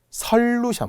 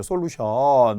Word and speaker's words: 설루션: 이제 약속을 한 거고요 설루션 와 진짜 되게 당황스러운 거 솔루션이라고 하죠 솔루션 막 해결하고 이런 것들 그런데 설루션 어로 발음이 나야 합니다 리모컨 컨트롤 컨디션 에어컨